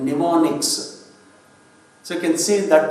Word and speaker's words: mnemonics: Those abbreviations are called mnemonics. So you can see that in the red color. Mnemonics. Mnemonics means M is silent there.